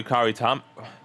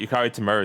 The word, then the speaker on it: Yukari Tamura: Apparently, Yukari Tamura. That's how you say it. Yukari Tamura is in it.